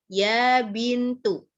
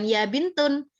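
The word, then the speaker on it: يا بنتُ: maka tentunya hilang menjadi ya bintu mungkin cowok bisa difahami ah ya bin tuh bukan ya bintun ya bintu ya Ustaz uh ya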